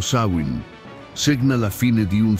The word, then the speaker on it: Samhain: Samhain, pronunciato Samhain, segna la fine di un ciclo di vita e l'inizio di un altro.